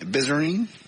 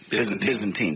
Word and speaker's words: Byzantine: to check at the bizer bizine oh Eddie tell me how pronounce that too Byzantine thank you Catholics they're oh more